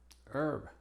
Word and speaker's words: herb: Algunas consideraciones es que es muda al principio de estas palabras, que no son muchas. Honor, our, honest, air, herb. Recuerden que cuando la H es muda, entonces la pronunciación empieza con una vocal.